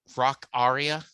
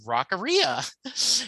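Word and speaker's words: Rockaria: do you know it's rock aria is the correct pronunciation what he says yeah he says i we were corrected i said no it's rockeria he goes nope it's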